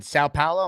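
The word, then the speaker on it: São Paulo: is it like to live in s in South Paulo am I saying it properly I don't I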